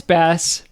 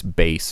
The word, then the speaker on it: Bass: Um, well, Lance, his name is Lance Bass, by the way, not Bass.